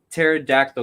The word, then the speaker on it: pterodactyl: can't you hear a pterodactyl go to the bathroom because the p is silent i think bale is